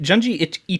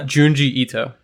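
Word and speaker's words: Junji Ito: so floors yours yes Oh gingy geunji itchy too and I'm saying that name I think Jun Jie Ito Jun Jie thank you I feel like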